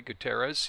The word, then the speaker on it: Gutierrez: You know, we brought up Juan Gutierrez, as I pronounce his name that way, Gutierrez.